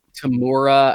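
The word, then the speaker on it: Temuera: Tamura, I think that's how you pronounce his first name, Tamura Morrison.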